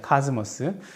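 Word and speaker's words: cosmos: 카스모스. 그래서 즈 발음 나기 때문에 이거는 S 발음이 아니다.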